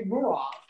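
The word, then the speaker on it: Mureaux: I can tell you that if I spell my name M-U-R-E-A-U-X, everyone could say Muro. Trouble. 1 second, please. Hold on. And no one seemed to be able to say Murov, and it's okay because technically I'm mispronounced my own name. It should be Murov.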